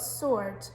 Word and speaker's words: sword: how the word sounded and we've got sword think about that one again that is our silent w okay number nine is